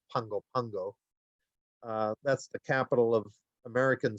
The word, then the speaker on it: Pago Pago: They actually pronounce it as though there's an N in there. It's pronounced Pungo Pungo.